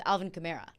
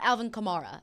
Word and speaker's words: Alvin Kamara: with Alvin Kamara yeah it's not Alvin Kamara it's Alvin Kamara now that one I I understood a little bit more because it was wrong for a while people have said it wrong yes yeah so my